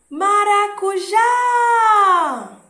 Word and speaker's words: maracujá: Maracujá! Perceberam que a que mais se prolonga é a que é a tônica. Ou você pode ir por um outro caminho. Pronunciar com mais calma. Maracujá. Deu para perceber também. Então, dessas duas formas, você escolhe a que é mais fácil, mais tranquilo, mais interessante para você.